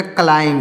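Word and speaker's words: climb: एम बी तो इसको पढ़ेंगे यहां पर बी साइलेंट है तो इसको पढ़ेंगे सी एल आई एम ई एम बी तो हो जाएगा क्लाइम इसको क्या पढ़ेंगे दोस्तों क्लाइम पढ़ेंगे क्लाइम इसको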